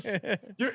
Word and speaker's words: Mateusz: I'm going with Mateusz. You had it right the first time again, damn. Mateusz.